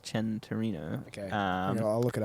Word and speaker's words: Centenario: um it's spelt santorino but it's um it's pronounced chen torino okay um i'll look it up centenario centenario sorry and um it's uh it's actually came out in uh 2016.